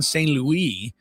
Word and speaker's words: St. Louis: It's spelled like St. Louis, but it obviously wasn't pronounced that way.